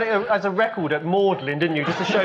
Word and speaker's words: Magdalen: So you don't know why it's pronounced Magdalen? You went to university for 3 years and you never asked. Never once occurred to you. Well, it's Mary Magdalene, but the college at Oxford is known as Magdalen.